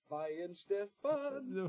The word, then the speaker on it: Weihenstephan: I'm not going to try to pronounce it. Maybe you can. Oh yeah, Weihenstephan.